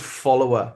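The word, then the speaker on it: Followr: I um the one I use, it's called Follower spelled like F O L L O W. There's no E and it goes like follow and then R.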